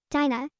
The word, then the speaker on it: Dinah: It's spelled D-I, like D as in dog, I as in Ivan, N-A-H. Dinah.